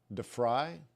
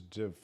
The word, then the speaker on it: DeVry: The V is not pronounced like an F. It's not fry. Is it fry, Peter? DeFry? I think it's DeVry. DeVry. I think it's DeVry. Yeah, I suppose it depends on where you're from.